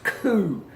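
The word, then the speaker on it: coup: like it spilled it's coo coo UPS CEO ups the P is silent you know Kyle out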